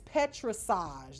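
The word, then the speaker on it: pétrissage: The next one is petrissage. That's how you pronounce it. Petrissage.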